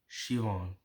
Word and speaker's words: Siobhan: "I think it's pronounced Shivon."